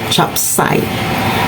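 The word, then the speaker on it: 雜碎: But in the Chinese term uh it is pronounced as chapsai.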